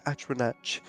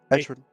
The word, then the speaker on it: Atronach: Atronach. Atronach? Atronach. Atronach? That's how you say it? Yeah, I've never said that right. That's funny. Atronach altar. Sorry, like atrocity, and then knock, Atronach.